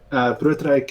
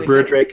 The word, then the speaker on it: Broodryk: Or Broodryk is the Americanized version. No rolling.